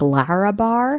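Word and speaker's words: Larabar: I want to say it like Lara Bar. Lara Bar, yeah. Because there's no U in there.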